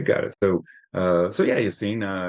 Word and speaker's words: Yassine: So so yeah, Yassine, am I pronouncing that correctly, by the way, Yassine? Yasin, that is correct.